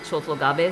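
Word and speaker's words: 長宗我部: of this guy called Chosokabe Motochika, who, I mean, in Kochi, in Tosaben, they probably pronounce it Chosogabe, so we made that deliberate choice there instead of saying Chosokabe.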